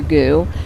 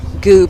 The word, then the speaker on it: GU: So it is spelled GU, right? GU, and yes. there are 4,000 goo packets and that are being handed out.